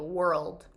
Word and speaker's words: world: Você tem que pronunciar aquele L no meio, world, mundo.